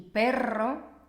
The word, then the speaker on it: perro: Por ejemplo, en las palabras pero y perro, es muy importante pronunciar bien la R, ¿veis? Porque cambia totalmente el significado.